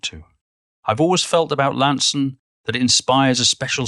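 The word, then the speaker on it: Launceston: to come from lansen lansen the town that rhymes or very nearly with handsome i'm not sure when people began to pronounce it launston like they do in tasmania but for me it's always been pronounced lanson and i'd no more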